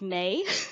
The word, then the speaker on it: Mai: did want to say the name is actually pronounced May.